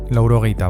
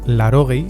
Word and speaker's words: laurogei: hamaika, hirurogeita emeretzi, laurogei, laurogeita bat, laurogeita bi, laurogeita bederatzi, laurogeita hamar, laurogeita hamaika, laurogeita emeretzi. Puede que escuches larogei en vez de laurogei, aunque en batúa se mantiene esa U.